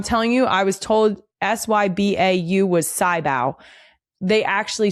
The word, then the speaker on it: sybau: So, I would not use sybau and that is how it's pronounced.